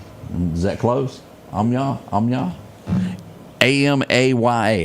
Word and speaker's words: Amaya: And I'm not going to be able to pronounce this guy's name, but we're going to call him Miguel Omaha. Is that close? Amya. A m A ya.